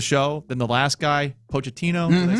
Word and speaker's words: Pochettino: better running the show than the last guy, Pochettino?